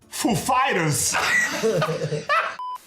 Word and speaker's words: Foo Fighters: He asked us if the accent was on foo or fighters. The accent is on fighters. Actually, he's like, "Ladies and gentlemen, foo fighters."